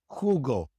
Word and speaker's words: jugo: The J in Spanish is not pronounced J as it is in English. It is pronounced like the H in English, also like the soft G in Spanish. For example, jugo, jugo, ejemplo, ejemplo, jueves, jueves. The J is always pronounced this way in Spanish.